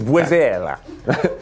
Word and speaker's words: Buizel: It's not spelled like weasel at all. It's French. It's Buizel. Buizel.